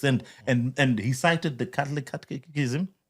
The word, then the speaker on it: catechism: by the Catholics, and he cited the Catholic Catechism. How do you say it? Catechism.